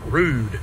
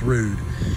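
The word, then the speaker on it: Ruud: It is pronounced Rude. It is not pronounced Rud. It is pronounced Rude.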